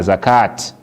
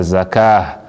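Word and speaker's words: زكاة: So if you stand for here na zakah, no go be na zakat, na zakah.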